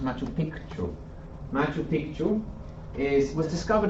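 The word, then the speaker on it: Machu Picchu: in a further presentation matchu Pichu um some of you may have heard of matchu Pichu actually it should be pronounced matchu piku Mau piku is was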